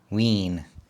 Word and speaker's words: Wien: racks Vienna Austria AKA ween spelled w i n ween is simply the word for Vienna in German the national language of Austria you pronounce it V with a V please note that a